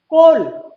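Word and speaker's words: coal: कोल, देखा, ओ के बाद ए आया, इसका उच्चारण आप लिखेंगे कोल, कहीं पर ए या आ की साउंड यहां पर नहीं है।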